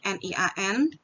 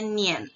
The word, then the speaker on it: nian: Jadi ditulisnya seperti ini, N-I-A-N, bacanya bukan Nian, tapi bacanya Nien. Dan itu harus langsung, Nien, bukan Nian, tapi Nien.